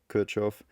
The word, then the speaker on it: Kirchhoff: By the way, Kirchhoff, it was an originally German guy and it's actually pronounced Kirchhoff.